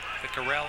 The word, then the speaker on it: Viccarelli: Viccarell, I think it is Viccarell. According to the pronunciation chart written in front of us, Viccarell.